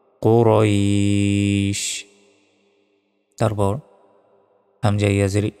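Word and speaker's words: قريش: পড়তে হবে লি লাফি কুরাইশ কু বলা যাবে না কু মোটা ভাবে কুরাইশ তারপর হামজা ইয়াজের ই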